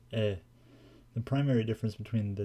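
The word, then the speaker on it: へ: While he is normally pronounced he when it is being used as a particle, it is always pronounced e.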